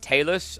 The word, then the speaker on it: talus: So this bone, called the, apparently it's pronounced talus. I call it talus because that sounds cooler.